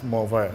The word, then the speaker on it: MontVert: I might be pronouncing it in English, but in French it's MontVert.